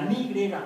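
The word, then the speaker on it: ν: n es como la n de los griegos ni no es ni ni nu di Ah la nu griega No no es nu dice la ni No no es ni es ni Pon la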